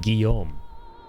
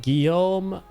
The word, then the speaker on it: Guillaume: And I finally learned from him how to pronounce Guillaume.